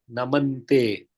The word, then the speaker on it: namante: In some texts, it is written incorrectly as Namaste. It is Tasmai Sarva Aratavo Namante.